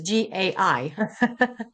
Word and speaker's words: gai: So, it's spelled as g a i.